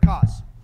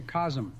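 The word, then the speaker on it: Kos: those were tough bosses it's pronounced orphan of cause or some say cosm I really need that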